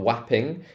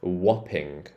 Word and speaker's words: Wapping: one's old gate East this one's not wapping it's whopping whopping oh this one's an